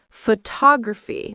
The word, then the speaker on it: photography: The stress changes. Photography. Not photography.